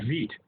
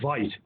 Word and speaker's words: Veidt: Well, what's fascinating is that movie, Caligari, features an actor in it named Conrad Veidt, or Conrad Veidt, depending on how you want to pronounce it.